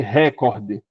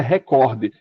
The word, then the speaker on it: recorde: Não existe o português, por exemplo, você dizer record, a palavra é recorde.